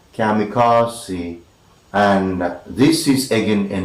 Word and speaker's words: kamikaze: day and that is kamikaze kamikaze kamikaze it is k-a-m-i-k-i-k and you have me car c four syllabus most significant is this one here that is car and it is articulated kamikaze and this is again